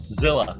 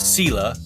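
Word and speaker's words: Selah: now where where is he out of cila zilla zilla actually pronounce this pronounce sila right it's just a little north of yakima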